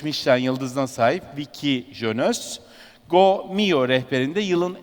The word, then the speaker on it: Viki: It's the right pronunciation, right? Viki and Gitte.